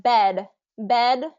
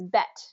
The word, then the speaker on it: bed: so you said like bed bed um if that yeah it has that D sound at the end right but a lot of